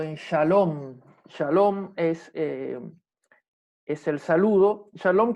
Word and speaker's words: shalom: Y acá vamos a tener la diferencia en que si el puntito está de este lado, va a ser una shin, va a tener un sonido shin, como por ejemplo, en shalom.